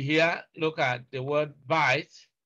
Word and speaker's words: bite: So it won't be a long vowel sound, but because we have B-I-T-E and E is silent here, this is a long sound.